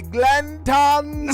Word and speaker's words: Glanton: You gotta make sure you say his name the right way. Bobby Glanton Smith. Glanton. Yes. When you say Glanton, you have to say it Glanton Smith.